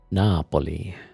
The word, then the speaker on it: Napoli: Napoli read like German. Well, this is how you pronounce it in uh in Italian. No. Napoli.